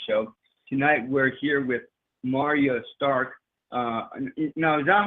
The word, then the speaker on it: Marya Stark: golden eggs music show tonight we're here with Mario stark no doubt how you say your name Martin Mario ma yeah that's how you say it Andrew hi I'm Arya Stark so great here III thought against a marine